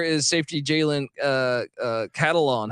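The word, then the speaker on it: Catalon: safety Jalen uh uh cattle on how do I pronounce that like a catalog right yeah yep yeah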